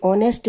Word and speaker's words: honest: अभी हम लोगों ने देखा कि ऑनेस्ट में H को नहीं बोला जाता, H साइलेंट होता है, सो यहाँ पर ये सेंटेंस गलत है तो क्रॉस कर देंगे।